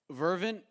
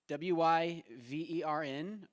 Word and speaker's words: Wyvern: All right, so number 7, Vervin Kerr, W-Y-V-E-R-N, Vern Kerr. Did I pronounce that correctly? Ah, Wyvern. Apologies.